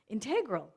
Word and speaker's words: integral: Demonstrate integral integrity. Or demonstrate integral integrity, if you want to put the emphasis on the other syllable.